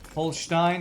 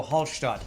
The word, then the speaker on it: Hallstatt: Holstein? No, Hallstatt. Hallstatt.